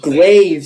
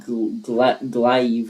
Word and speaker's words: glaive: Glaive. Same thing. That's what I said. It rhymes with it rhymes with glaze. That's That's what I said. I said glaive, not glive or whatever you said.